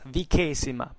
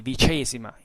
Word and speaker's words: Vicesima: And it's contained in the papyrus of the cohorts Vicesima Palmyrenorum. I will keep using the classical pronunciation as far as we know what it is. It would be Vicesima in ecclesiastical, but it means the 20th cohort of the Palmyrians.